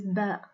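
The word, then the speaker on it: باء: in the same position as far as the pronunciation of the it is similar to the bay of book it is named bear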